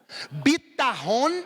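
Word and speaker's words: בטחון: nós chamamos de confiança palavra confiança em hebraico é Bita o mãe eu não coloquei no slide mas eu quero que você pronuncie comigo vitaone isso é confiança bitarron é confiança a fé é acreditar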